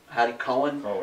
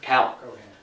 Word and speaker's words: Cowen: And they pronounced so instead of being pronounced Cohen, it's Cowan.